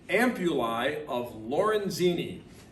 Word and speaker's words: ampullae of Lorenzini: the ampullae of lorenzini yes you heard that correctly say it with me the ampullai of lorenzini and that are these